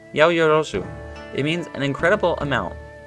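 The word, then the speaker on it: 八百万: what's that Yahoo yo it's written as 8 million and pronounce yo yo zoo it means an incredible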